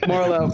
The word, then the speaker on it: Merlo: Merlo. Thank you. More low, less high.